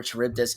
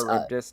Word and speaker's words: Charybdis: Icarus being able to kind of take the lead over Charybdis in a debatably, well, most likely in a sense. Charybdis, not Charybdis.